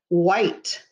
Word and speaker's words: white: things are what color white w-h-i-t-e again silent e makes the i say its name i white w h